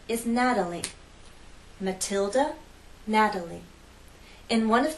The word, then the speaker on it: Natalie: true T sound Matilda in this name we have three syllables and it's the first syllable that's stressed Natalie Natalie the T is part of an unstressed syllable so we use the flap T let me offer a